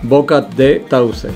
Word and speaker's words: Boca de Tauce: How do you pronounce this one? Boca de Tauce.